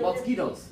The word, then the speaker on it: mosquitoes: How many syllables? Mosquitoes. Uh-huh. 3. 1, P. 2, 3. Okay, where's the stress? Mosquitoes. On the, Mosquitoes. okay, so 2. that's 2. Right, stress on the second syllable.